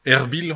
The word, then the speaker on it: Erbil: Elle a travaillé aussi auprès de Palestiniens déplacés, notamment mené une mission à Erbil, on prononce comme ça, en Irak, auprès des femmes yézidis, on dit comme ça aussi, victimes du génocide.